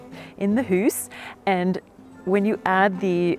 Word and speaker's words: Hüüs: And in Swiss German, they would pronounce it Hüs, in the Hüs.